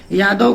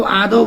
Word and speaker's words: यादव: शब्दों के उच्चारण में य की जगह पे लोग आ अ बोलते हैं, यादव को आदो बोलते हैं।